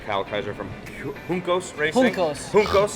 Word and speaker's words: Juncos: Juncos. The J is silent.